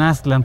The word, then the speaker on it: Aztlán: lo mismo pasa con aslan que sería la pronunciación más más cercana con aslan para los mexicas para